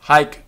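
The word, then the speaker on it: haec: who yes hominis so hick como hike cuomo but spelt hic and then homo and hike como spelt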